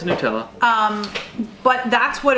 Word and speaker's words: Nutella: I forget how you pronounce it. It's Nutella.